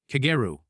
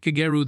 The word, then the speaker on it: Kageru: No, Davis San Kageru has the accent on the first syllable. Kageru, not Kageru. The difference matters.